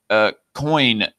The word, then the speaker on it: Koine: Koine is its pronunciation, okay? Koine, that it's pronounced Koine.